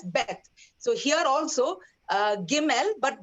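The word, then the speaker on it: בּ: and the vet okay vet was more softer and when you added the the dagesh lenny it became harder and you pronounce it as beth so here also gimmel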